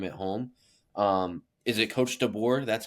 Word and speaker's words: DeBoer: Is it Coach DeBoer?